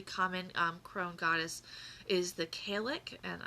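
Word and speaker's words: Cailleach: crone goddess is the Kalec, and I recognize that it's spelled Callieach. I had to look up how to pronounce it once upon a time, but it doesn't look like that's how you pronounce it.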